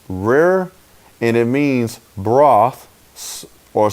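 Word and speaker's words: ריר: white white that's Hebrew 73 88 and it's pronounced rare and it means broths or spittle saliva all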